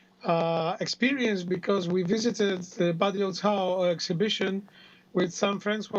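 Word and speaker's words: Badiucao: How do I pronounce his name, Olgierd? Well, it's Badiou Cao.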